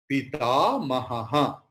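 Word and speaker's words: पितामहः: Visarga's pronunciation will be ha when it is the last letter.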